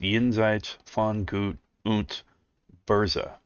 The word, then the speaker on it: Jenseits von Gut und Böse: Now, that is pronounced Jenseits von Gut und Böse, as far as I can make that out.